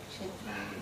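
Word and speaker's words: क्षेत्र: Kshetra is right.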